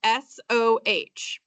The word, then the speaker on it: SOH: Okay, so on the left side, it says SOH. Okay, so we're going to pronounce that so.